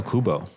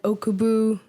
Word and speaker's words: Okubo: I've heard people have said Okubu, Akabu, Okabu, and I'm like, it's literally Oku.